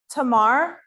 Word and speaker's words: Tamar: The next one is not Tamara, it's Tamar. Наступне на українській Тамара, але на англійській без останньої букви А. Тамар. Tamar. Тамар.